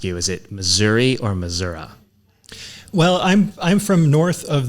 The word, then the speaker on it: Missouri: the Missouri River, so we pronounce it as Missouri, and it's historically been the farther south you go toward, especially the Ozarks region, kind of straddling the border with Arkansas. The standard pronunciation had long been Missouri.